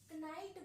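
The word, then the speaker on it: knife: इसमें के साइलेंट होता है। क्या हुआ? पहले के टाइम में क्या है? ये कनाइट बोला जाता था। सॉरी कनाइट बोला जाता था। इस के को प्रोनाउंस किया जाता था।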